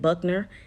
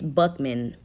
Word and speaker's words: Buckman: I said his name wrong earlier when I said Buckner. It's Buckman.